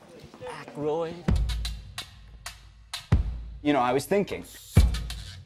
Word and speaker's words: Aykroyd: Chevy Chase, Gilda Radner, Dan Ayika. How the fuck do you pronounce this? Aykroyd.